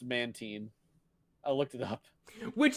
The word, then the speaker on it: Mantine: It is a hard I, but Mantine sounds better. Yeah, it is actually pronounced Mantine.